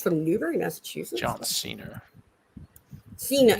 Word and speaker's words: Cena: newberry massachusetts john cena cena how do you say it it's a soft it's a soft see what well yeah i wouldn't say keena it just makes me